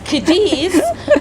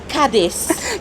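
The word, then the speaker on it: Cádiz: Although our captain and most people pronounce Kadis, the real name is Kadis.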